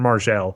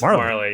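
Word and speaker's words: Majerle: It's like Dan Margell. Marley. Just Marley. Yeah, that's a silent J.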